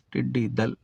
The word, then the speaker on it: ٹڈی دل: ہے، ٹڈی دل مذکر۔ تو اس لفظ کا درست تلفظ کیا ہے؟ ٹڈی دل۔ میں نے آپ کا